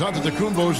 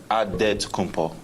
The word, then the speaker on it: Antetokounmpo: In the Nigerian way, you gotta say it with a D, so it's Antetokounmpo. But in the Greek way, you say it with the NT, like Antetokounmpo.